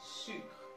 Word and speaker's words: sucre: In French the correct pronunciation is sucre.